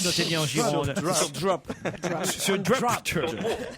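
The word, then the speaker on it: Dropt: Ah oui, non, sur Drop. De Bordeaux. On s'en doutait un peu, notez bien en Gironde. Sur Drop. Sur Drop. Sur Dro, ah, on doit dire Dro? Ah oui. Ça s'écrit On dit D-R-O-P-T.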